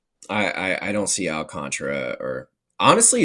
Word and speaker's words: Alcantara: I I I don't see Alcantra or honestly it's spelled Al Alcantara. I don't know why it's Alcantra. It's Yeah, but it's pronounced Alcantra.